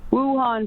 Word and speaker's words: Wuhan: you said what is it how is it pronounced again it's just a week-long which the cities where this all originated in China Wuhan p4 lab yes so Wuhan it yeah the